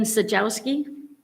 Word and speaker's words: Sajowski: Sajowski. Yeah. How'd I do? You're the only one I've ever heard properly pronounce my last name.